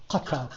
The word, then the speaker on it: Qatar: It's spelled with a Q. In Arabic, it's a katar. Okay. So, he made a deal with Qatar. I say this how the Europeans say it.